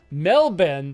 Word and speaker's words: Melbourne: oh metal metal bin melbin that's how you pronounce it the Australian way ah metal Ben gotcha